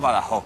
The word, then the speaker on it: Badajoz: Badajoz, pero nosotros pronunciamos Badajoz. Badajoz. ¿Vale? Nosotros la J la pronunciamos, la aspiramos y la Z no la pronunciamos.